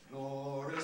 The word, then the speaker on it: glorious: city of our god where it has to be scanned as two circles glorious things of thee are spoken glorious has to be compressed or it won't fit the music and if you you